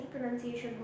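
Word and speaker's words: pronunciation: प्रोनाउंसिएशन, बट इट्स नॉट प्रोनाउंसिएशन because यहाँ पर ना NOUNI ही नहीं रहा. ठीक है, तो यहाँ पे प्रोनाउंसिएशन नहीं होगा, इट्स प्रोनाउंसिएशन. NUN none. प्रोनाउंसिएशन. Okay, so now this is प्रोनाउंसिएशन.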